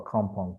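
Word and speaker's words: Accompong: in a place called a Kampong town. In Ghana, we pronounce the word Achampong, but in Jamaica, it's called a Kampong town.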